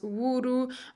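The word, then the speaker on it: ウール: find katakana for wool, for example, which is pronounced wuru, or for example silk, which is pronounced shiruku.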